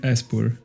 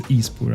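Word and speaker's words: Espurr: For example, that one I've always pronounced it Espur. But also Shieldon. I've always pronounced it Sheldon. But yeah, like that one is Ispur 100%.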